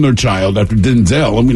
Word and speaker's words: Denzel: Denzel Washington. Oh, right. That is not how you say his name. How do you... It's Denzel. Really? It's Denzel Washington.